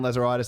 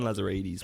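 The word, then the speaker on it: Lazaridis: But don't worry, Stan Lazaritis has given us a promise of 6 to 8 wow signings. Who's Stan Lazarides? It's Stan Lazarides, mate.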